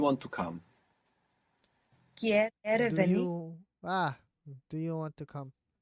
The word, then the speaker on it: venir: you would get the Venir. spelling venir. But more commonly, you would hear venir, venir, like a soft B. Venir. Firstly, let's say, Venir. do you want to come? Quiere Do venir.